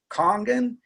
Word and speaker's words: Kangen: it Kangen water, but the truth is it's a Japanese word. It's pronounced Kangen, and it means return to origin.